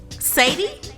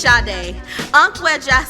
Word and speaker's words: Sade: Sadie? Sade? No, actually it's Sade, Sanab, made of ancient